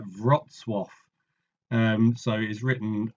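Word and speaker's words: Wrocław: it's pronounced something like vwo um so is written like this um so but my polish is non-existent but I think it's something like vwo um anyway so he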